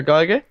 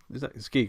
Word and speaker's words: Giger: Well, there was talk of bringing H.R. Geiger, or Giger, however you pronounce it, back Giger. for the second. It's Giger, isn't it? Yeah.